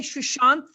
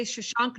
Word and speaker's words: Sushant: right and i said i meant to say shushant if anyone heard me say shashank no way i love